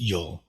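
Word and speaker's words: 聿: So since it's the radical of brush, which is pronounced yul, it has the same pronunciation.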